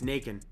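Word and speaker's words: Nacon: I think it's Nakon, like bacon.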